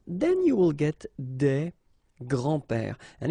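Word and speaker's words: grands-pères: you think about that you don't pronounce this s so actually phonetically it's the same grand pair here and grandpa here okay so let's be honest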